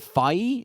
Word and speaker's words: Fai: Is it Fai? It's Fai. Fai. Go with Fai.